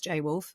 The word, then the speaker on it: JWolf: Um, from so we we had uh JWolf, who we've always wondered how we pronounce JWolf's YouTube name, and now we know it's Jaywolf, who said, "Nicola, a true Lego builder would have dismantled it and rebuilt it."